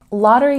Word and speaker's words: lottery: Lottery has a stress on the first syllable.